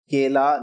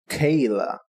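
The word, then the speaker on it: केला: But you pronounce it Kela, not Kayla.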